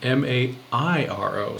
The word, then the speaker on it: Mairo: It looks like Mario at first glance, but it's actually Mairo.